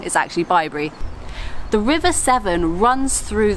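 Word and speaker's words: Bibury: Cotswolds as some people pointed out I was pronouncing it be brief completely wrong is actually by Barry the River Severn runs through the centre of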